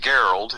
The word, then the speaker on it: Gerald: It's like Gerald, only it's pronounced Gerald, g e r a l d.